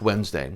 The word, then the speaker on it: Wednesday: spelled but that was the joke wednesday why put the d in there at all it's crazy and and